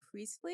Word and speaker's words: Priestley: Next one was Jason Priestley. Is that how you pronounce his last name?